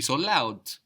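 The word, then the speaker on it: laut: o r t vort we so loud which is spell l a u t cult cold k i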